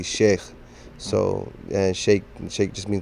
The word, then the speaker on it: sheikh: you've heard the term chic before proper pronunciation for sh sheik is actually sheikh so and sheik just